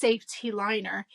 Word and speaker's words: Saf-T-Liner: was interesting immediately because instead of S A F E safe, it's just S A F. But because they have the T, it's like I'm sure it's pronounced Saf-T-Liner.